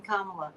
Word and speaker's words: Kamala: find such difficulty pronouncing Kamala I mean what Comm CM you can think of it like Comm yeah well it's it's pronounced the same as Pamela only with a K I know but you